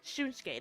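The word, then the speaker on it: Shunsuke: Shunke, that's how you say it.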